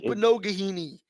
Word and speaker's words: Igbinoghene: Even the announcers last week couldn't pronounce it. Noah Igbinoghene. It's like Igbinoghene.